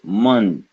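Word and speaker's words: मंच: So this is munch, munch, munch. You got it? Ma, followed by a N sound, pronounced the same way as cha.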